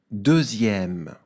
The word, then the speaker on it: deuxième: Deuxième. Dans le mot deuxième, on repère au début le nombre 2, D-E-U-X. Le son Z dans la syllabe zia est fait grâce à la lettre X.